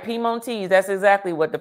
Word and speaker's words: Piemontese: And it's from, and I'm going to try to pronunciate this, Piemontese. Look, Piemonte. That's what it is. Well, you know what? You're exactly right. Piemontese. That's exactly what the pronunciation is.